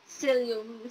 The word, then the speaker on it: psyllium: Pero let's pronounce it psyllium, silent P.